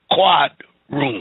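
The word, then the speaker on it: quadroon: what to start with but it's pronounced quadrune and the other one is octoroon now we have so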